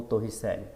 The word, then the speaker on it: Torricelli: uma equação chamada de equação de Torricelli, ou Torricelli, dependendo da sua pronúncia no italiano.